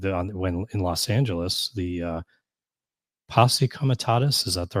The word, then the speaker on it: Posse Comitatus: We've had some judge ruling that this violated when in Los Angeles, the Posse Comitatus, is that the right way to say that?